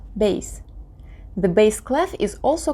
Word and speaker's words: bass: To embrace notes in the lower pitch ranges, we use bass clef, pronounced bass.